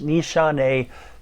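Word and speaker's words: Nishane: dos this one i do know how to pronounce the name of it it's nishante fan your flames right here nishante fam your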